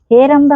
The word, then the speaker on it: ಹೇರಂಬ: ಹೇ ರಂಬ ಗಣಪತಿ ಅಂತ ಹೇರಂಬ ಗಣಪತಿ ಅಂತ ಹೇಳಿದ್ರೆ ನೋಡಿ ಈ ಒಂದು ಉಚ್ಚಾರ ನಾನು ಮಾಡ್ತೀನಿ ಹೇ ರಂಬ ಗಣಪತಿ ಅಂತ ಅಂದ್ರೆ ದೀನಾವಸ್ಥೆಯಲ್ಲಿ ಇರಬೇಕಾದರೆ ಹೇ ರಂಬ ಅಥವಾ ಅಯ್ಯೋ ಅಂತ ಹೇಳ್ತೇವಲ್ಲ ಆ ಒಂದು ಗುಣ ಈ